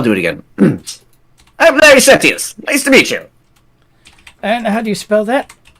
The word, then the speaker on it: Sethius: I'm Larry Setius. Nice to meet you. And how do you spell that? Larry. Then there's a space. And then there's Sethius. The H is silent.